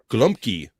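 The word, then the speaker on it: gołąbki: about that um go golabi golabi uh pronounced uh glumpy glumpy the glumpy Polish cage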